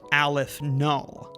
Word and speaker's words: aleph null: This symbol for it is pronounced aleph null.